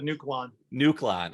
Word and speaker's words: Nuon: that by the way we just always said nuon nuon oh like a nuke okay great like the neutron like Jimmy Neutron there we go okay